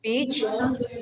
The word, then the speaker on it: beach: Now be careful when you pronounce the word beach. Long sound, beach. Do not pronounce it with the short sound it. If you pronounce it with the short sound it, then it means something else, something inappropriate.